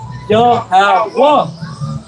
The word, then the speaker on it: Yahweh: So you can't pronounce that Yahweh. You got to pronounce that Yahwa.